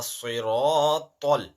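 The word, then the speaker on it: صراط: It's ihdina siratal. Now, ta is not ta. Ta is a mustaliya letter. Ihdina siratal mustaqim. Qim. Not kim. Qim. Ihdina siratal mustaqim.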